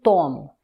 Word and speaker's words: tomo: Eu tomo, avant-dernière syllabe qui est la syllabe forte, eu tomo.